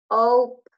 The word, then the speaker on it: hope: That's that silent E that you don't hear, makes the vowel sound a long vowel sound. So it's the O sound.